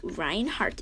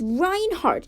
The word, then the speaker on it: Reinhardt: joke i do not my name is reinhardt and it's not heart like the muscle it is h-a-r-t as in as in